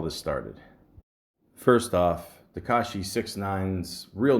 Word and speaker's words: 6ix9ine: known professionally as 69 now it's spelled with a six iix 9 i n e all one word it's pronounced 69 now I'm not going